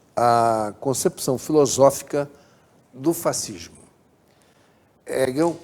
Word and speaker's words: Hegel: Hegel, que nós aqui pronunciamos Hegel, mas eu fui pesquisar a pronúncia, os alemães falam Hegel, com a utilização